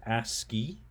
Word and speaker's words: ASCII: So here we go, the ASCII code page, pronounced ASCII, or the American Standard Code for Information Interchange.